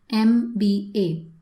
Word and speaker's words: MBA: So you take the sound, you pronounce each word, each letter separately. MBA.